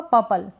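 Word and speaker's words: purple: से पढ़ें पर्पल, तो आर बिल्कुल हल्का सा हो रहा है, या फिर आप पर्पल पढ़ें पर्पल, बिल्कुल करेक्ट होगा।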